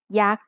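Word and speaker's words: ยักษ์: Maybe you've seen statues of yak at a Thai temple. Yak is high tone because it has a low-class consonant and a dead syllable with a short vowel.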